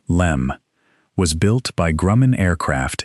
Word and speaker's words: LM: The lunar module, the LM, pronounced LEM, was built by Grumman Aircraft in Bethpage, Long Island, and it was unlike any spacecraft before or since.